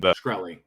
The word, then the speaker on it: Shkreli: They're doing a cool AMA with Martin Shkreli. I don't know how to say his last name. Shkreli.